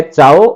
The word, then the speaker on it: ciao: तो इसको इस तरीके से लिखते हैं, चाओ को CIAO, पढ़ेंगे चाओ, चाओ।